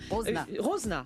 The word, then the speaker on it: Rosena: Vous avez joué le rôle de Rosena Jean. Rosena, merci. Je ne savais pas comment on le prononçait parce que ça s'écrit R-O-S-E-N-A.